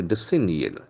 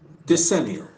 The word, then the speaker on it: decennial: the pronunciation once again the accent Falls of the second syllable so I must give extra to that sound the signal once again decennial the senior the senior